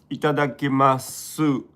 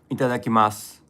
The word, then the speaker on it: いただきます: I hardly itadakimasu, but you don't say the you at the end. No. Itadakimasu. Su means su, right? Itadakimasu. So it's not you. It's like a S and U. We say su. So we pronounce that.